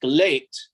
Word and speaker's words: GLEAT: Well, I think it's pronounced Gleet, like great, just with the L instead of the R. I pronounce it, have been pronouncing Gleet.